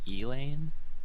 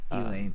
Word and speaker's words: Elaine: I believe they said their name is pronounced Elaine. Elaine. That makes sense because it's supposed to be in reference to Lane, the character Lane.